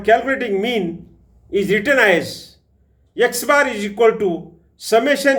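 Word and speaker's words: x̄: is the x bar and that is pronounces pronounced as x bar for a number of observations is calculated by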